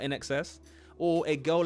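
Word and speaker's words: INXS: I would have said Inks, but In Excess.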